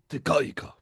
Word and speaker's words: Te Kahika: Well, if you want to pronounce it I want to syllabic, pronounce it correctly. it's Tekaika.